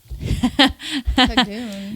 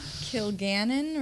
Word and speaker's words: Kilgannon: Cagoon. Is that how you pronounce it? No. That is not her last name at all. What is it? Kilgannon, right?